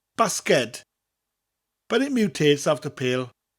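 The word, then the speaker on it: basged: guessed from that that basket in Welsh is basket but the D not a T at the end basket but it mutates after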